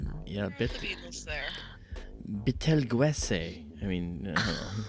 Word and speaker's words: Betelgeuse: It's Betelgeuse, not Beetlejuice. Or Betelgeuse. I don't know. Yeah, The Beatles there. Betelgeuse.